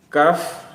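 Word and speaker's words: كاف: Kemudian yang terakhir kaf ha ya ain sad. Perhatikan kaf kita baca kaf karena memang nama hurufnya kaf, tidak kita baca ka tapi kaf.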